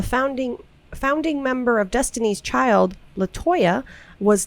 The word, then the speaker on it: Letoya: And it's spelled cool, Yeah. her name. It's LETOYA. Whoa. LaToya.